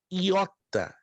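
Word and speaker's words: ἰῶτα: Depois temos a letra iota, se escreve como um I maiúsculo e um I minúsculo, que se pronuncia exatamente como a nossa letra I, iota.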